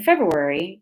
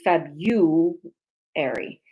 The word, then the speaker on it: February: The article explains that in the Midwest, they mispronounce the RU in February to February.